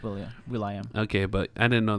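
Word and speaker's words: will.i.am: Will I am? I think so. Oh, okay. Oh, Will I Am. And I didn't know that's how you pronounce his name. Well, it's William, but Will I Am.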